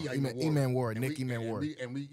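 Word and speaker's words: Emmanwori: I can't pronounce his name. Imuwala. Yeah. Man. But he put on a show at the combine, and we definitely need some help. E-Man Warrior. I said it wrong. Yeah, E-Man Warrior.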